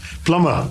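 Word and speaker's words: plumber: hyperbole yes and uh just one more uh p-l-u-m-b-e-r plummer plummer though these are trivial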